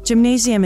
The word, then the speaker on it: Gymnasium: In the German language, gymnasium is said with a hard G-ga, rather than a soft G-ja as in English.